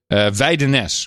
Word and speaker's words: Widnes: That's you go to Holland, and the cab driver will take you right there if you pronounce it like that. Try it again. Widnes? Oh, yeah. We're on our way there, sir. Weidenes would be closer.